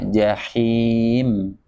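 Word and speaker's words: جحيم: bersama huruf Ain sama jahim tapi hati-hati kadang suka barengin dengan huruf ainnya mentang-mentang sama-sama tenggorokan bagian tengah bacanya begini jahe sering banget kedengeran seperti itu bacanya jahim jadi ikut-ikutan him him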